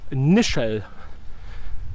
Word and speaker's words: Nischel: It's Nischel. So it's spelled N-I-S-C-H-E-L.